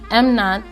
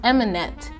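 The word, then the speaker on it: Emanet: wrong this whole time i was saying am not but it was em it's eminent that's the name of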